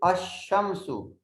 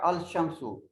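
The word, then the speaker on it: الشمس: And in the sun letters, the letter L is not pronounced. The correct pronunciation is Ash-Shamsu.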